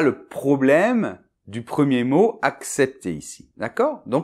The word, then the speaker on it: accepter: Attention dans la deuxième syllabe, le CEP, le E [ɛ] est ouvert, d’accord ? [ɛ] Un exemple : Il faut accepter la réalité.